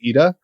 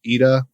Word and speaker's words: Eta: better alternative which is Eda which is spelled ETA but it's the Greek letter Eda which I don't really